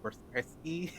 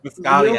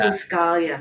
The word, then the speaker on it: Buscaglia: Bob Ross, Leo I was gonna try to pronounce the name, Bersky? you're so close. Buscalia, Leo Buscaglia, Buscalia.